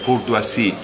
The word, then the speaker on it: Courtoisie: en Proust, porque bueno, tengo un apellido francés que es difícil de pronunciar, es difícil de leer, pero es fácil de pronunciar, Courtoisie, Rafael Courtoisie.